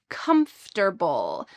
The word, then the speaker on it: comfortable: It is a shortened version of the word comfortable. Notice the pronunciation of this full word. Comable. Comfortable.